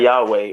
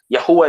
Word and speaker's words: Yahuwah: That is proper pronunciation, not Yahweh or Jehovah. Yahuwah is the proper ancient.